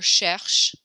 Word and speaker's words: cherche: But when a word ends with an E, you do not pronounce that E sound, like écoute or cherche.